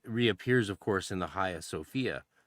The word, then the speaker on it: Hagia Sophia: And then it reappears of course in the Haya Sophia famously um Hagia Sophia for for some of you people if you're trying to spell it. Haya Sophia, right?